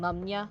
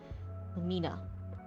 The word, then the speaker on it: Lumina: I was so close to saying Luma, like na, like Na business, except it was Luma and I'm like, nope. Lumina.